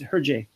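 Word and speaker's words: Hergé: If you want to know his pronunciation, you say it almost right. It's Herge, but you add the A. It's Herge.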